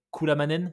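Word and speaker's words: Kullamannen: l'UTMB en Suède alors tu tu me dis si je le prenonce mal c'est quoi c'est kouamanen c'est ça exactement tu l'as bien prononcé ok cou la manen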